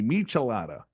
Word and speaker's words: Michelada: A Michelada. I wouldn't even know how to pronounce that.